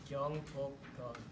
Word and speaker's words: Gyeongbokgung: Can you pronounce the name one more time? Gyeongbokgung.